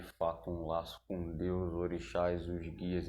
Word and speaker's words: orixá: Então a palavra orixá vem do idioma Yorubá e a sua grafia correta se escreve dessa forma que vocês estão lendo aí, O-R-I-S-A com o acento, né, os acentos, só que dessa forma escrita, o S tem som de X, tá?